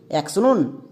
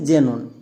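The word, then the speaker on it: xenon: তাহলে আর একটি এক্সাম্পল দেখো, এই ওয়ার্ডটার উচ্চারণ কি হবে? অ্যাক্সনন নাকি জেনন?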